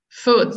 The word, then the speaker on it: foot: my my foot foot foot so that that one has the has the same sound as good um foot foot so if